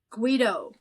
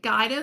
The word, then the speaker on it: Guido: The reason I pronounced it Gaido the first time I saw it is I actually had a student that I taught in the seventh grade that he spelled it exactly that way and he pronounced it Gaido, which is kind of